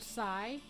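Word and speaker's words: scythe: Okay, so the first time I saw the word sigh, it's spelled S-C-Y-T-H-E.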